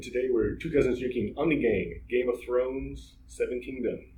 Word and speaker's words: Ommegang: I was putting an N in there when I said Ommegang. It's Ommegang.